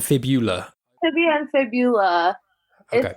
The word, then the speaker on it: fibula: Is it fibia and tibula, or is it tibia and fibula?